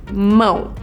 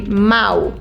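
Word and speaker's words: mão: And if you add a til on top of it, it gives you the "ma" sounds. Make sense? "Mao," without it it would be "mou" with it it's "mao".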